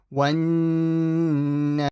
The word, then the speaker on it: وَالنَّازِعَاتِ: وَالنَّازِعَاتِ. So make sure you don't stretch the t. Now say it with me. وَالنَّازِعَاتِ.